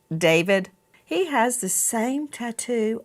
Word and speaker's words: D4vd: What a coincided that he David some look at his name and it looks it looks like D4 VD and he pronounces it David.